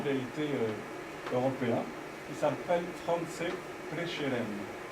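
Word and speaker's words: Prešeren: européen qui s'appelle franis prcheren ce petit til de là ça indique que le S se prononce che slovain puisque les slovaines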